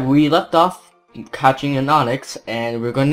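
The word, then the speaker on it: Onix: is a stone and it's pronounced the same way Onyx so I think that's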